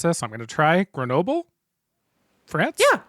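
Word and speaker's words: Grenoble: Chartreuse is made only by Carthusian monks of Lrron Chartreuse near I don't know how to pronounce this. I'm going to try Grenobyl France. Yeah, Grenobyl.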